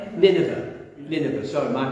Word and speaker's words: Nineveh: and teach the people of I get Charlie pronounced this Nave. Is it Nineveh? Nineveh.